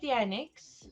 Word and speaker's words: Thea Nyx: So Thea Nyx is how you would pronounce that.